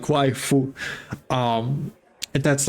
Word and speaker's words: waifu: Um it's just waifu because of how Japanese people will pronounce the word wife. So, it kind of sounds like waifu.